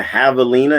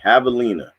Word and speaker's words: javelina: that you mean the javelina it starts with a j javelina kind of like javier you know j is silent javelina j-a-v-e-l-i-n-a we'll eat